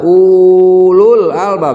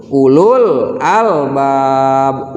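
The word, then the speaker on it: أولو الألباب: Nah, di sini ada 2 wawunya, tapi tidak ada harokat sama sekali di situ. Jadi cara membacanya jangan dibaca panjang, jangan dibaca ulul albab, jangan, tapi langsung ulul albab, ulul albab, lam alif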